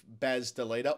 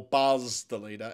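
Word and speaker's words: Bas de Leede: Jeff, I'm keeping tabs on all the pronunciations of Baz DeLeeda, or Buzz DeLeeda, as we heard from Dirk Nattis yesterday, and as I said with Cam, I trust Dirk to have done his homework.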